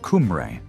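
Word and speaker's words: Cymru: Today this name is used only to describe Wales as Simri, which is pronounced Kumri by English speakers.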